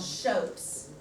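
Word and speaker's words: scop: it on the anglo-saxons Saxon poets were called shoats nco PS looks like scoffs pronounced shows those anglo-saxon shopes are the poet's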